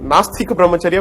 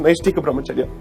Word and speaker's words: Naishtika Brahmacharya: In fact, in the court, most of the time I heard people calling it Nastika Brahmacharya when in fact it's Naishtika Brahmacharya.